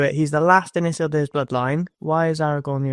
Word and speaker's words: Isildur: That's Elvish is based off Welsh, apparently. Not How else would you pronounce D-U-R other than deer? Door. Name an English word where it sounds like that.